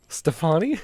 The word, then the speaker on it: Stefani: Stefani? Stefani. Is it Gwen I Stefani? mean, I'm Gwen I'm Stefani. reading it phonetically, man.